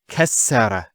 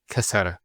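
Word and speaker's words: كَسَّرَ: Kasra instead of kasara. So once again, there's the kaf, followed by two scenes, and then the ra. So kas, sukoon, sara. Kasara, not kasara.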